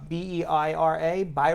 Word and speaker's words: Beira: So, so our hearts go out to the people of Mozambique, and according to reports, Beira, B-E-I-R-A, Beira. Is that how I pronounce it?